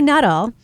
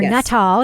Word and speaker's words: Nuttall: So let's talk about Timothy Nuttle or Nuttall, everyone pronounces his name differently. Brendan pronounces it Nuttall.